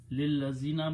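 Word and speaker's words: لِلَّذِينَ: So when you read them together, okay, you don't pronounce this alif, it's lillazina, don't even write the alif.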